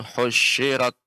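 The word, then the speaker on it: حُشِرَتْ: Nah, shin tidak ada bertasydid, Pak. Jadi dibaca dengan lembut tanpa ada tasydid, bukan husyirat, akan tapi husyirat wa idzal wuhusyu husyirat. Seperti itu. Wa izal ukhusu khusyirat. Nah, di sini ketika Bapak mengucapkan husyirat ada tasydid sedikit. Ini tidak ada tasydid sama sekali.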